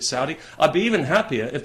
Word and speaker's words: Saudi: People have said to me, you know, you're pronouncing that wrong. It's not Saudi, it's Saudi. Well, okay, fair enough. I'm happy to pronounce it Saudi.